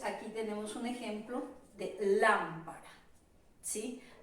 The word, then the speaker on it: lámpara: Entonces aquí tenemos un ejemplo de lámpara, ¿sí? Lámpara por lo general es la sílaba tónica de esta palabra porque va con su respectivo tilde.